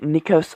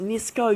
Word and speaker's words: Nisco: hands deck and then you have gomes and nicos on the other side of the tuck no it's pronounced nisko you idiot the top of the tuck looks